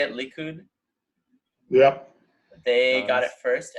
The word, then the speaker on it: Likud: So in the first election, it was how do you say it, Likud?